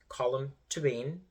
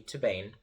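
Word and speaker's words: Colm Tóibín: by colum toban and that is how you pronounce his name colum toban it could also be tban but that's how they pronounce it on the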